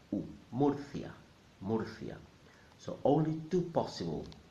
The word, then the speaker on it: Murcia: Again, the spelling will confuse the English speaker, but you must remember that when you see the letter U in Spanish, normally will sound like a double O. Murcia, Murcia.